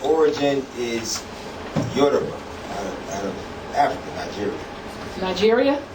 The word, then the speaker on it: Yoruba: Yoruba. Spell it.